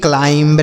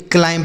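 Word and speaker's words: climb: सी एल आई एम बी क्लाइंब नहीं पढ़ेंगे क्लाइम पढ़ेंगे क्योंकि हमने आपको पीछे बताया कि अगर एम के साथ बी रहता है तो बी साइलेंट होता है।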